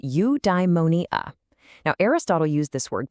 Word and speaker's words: eudaimonia: It's pronounced you-die-mo-nee-ah.